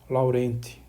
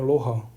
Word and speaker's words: Laurent: Esse nome aqui se escreve Laurent. Se a gente fosse ler em português, seria Laurent, tá? Mas que foi um matemático francês, então por isso que a pronúncia aqui estou fazendo é Loran, série de Loran.